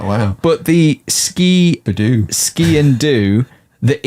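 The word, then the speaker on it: sgian dubh: d u b h uh but it's yeah ski and do is is the phonetics do you pronounce the b like Siobhan or do you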